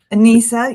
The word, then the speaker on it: Anisa: Anisa, yeah.